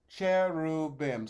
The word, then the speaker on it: cherubim: the cherubim so chair roo bim so be sure that the r happens on the second syllable cry above base you're